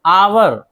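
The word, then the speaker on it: hour: आवर, आवर घंटा एच है नहीं पढ़ेंगे।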